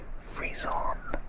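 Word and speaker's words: frisson: describe asmr is to compare it to musical freeze-on i think that's how you pronounce that word freeze-on freeze-on double f-r-i-s o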